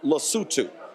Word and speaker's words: Lesotho: So in his speech, he literally mispronounced the country. Then folks started to actually laugh in the room. It's called Lesotho.